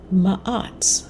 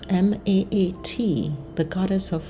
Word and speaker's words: Maat: Thoth, I hope I'm pronouncing that right. It's Thoth. Thoth embodied wisdom and the power of language. Maat, M-A-A-T, the goddess known as Maat, embodied truth and balance.